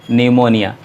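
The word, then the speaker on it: pneumonia: इसे पढ़ा जाता है निमोनिया तो यह एक बीमारी का नाम है जिसे पड़ते हैं निमोनिया और इसमें भी पीस साइलेंट है रूल यह रोटी के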